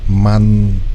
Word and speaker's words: Man: Max channel ya bukan Man ya ternyata man man dibaca seperti bahasa Indonesia Terima kasih sudah mengkoreksi thank you banget sudah mengkoreksi bahwa pronunciation atau pengucapannya bukan Men tapi menyiapkan lagu terbaru